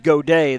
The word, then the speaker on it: Gaudet: some of these because I would have said Gabe Gaudet because I actually knew a guy that pronounced it God at but it is go day the youngster on deck